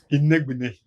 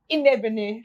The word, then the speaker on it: Inegbenechi: The last one, you didn't pronounce the last one. Inegbenechi. Inegbenechi.